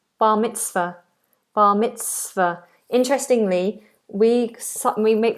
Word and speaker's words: bar mitzvah: and bar mitzvah.